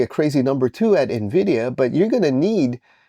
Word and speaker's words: NVIDIA: By the way, the proper way to pronounce NVIDIA is NVIDIA, okay? Don't do what the investment and Fed, and call it NVIDIA. That's wrong, okay?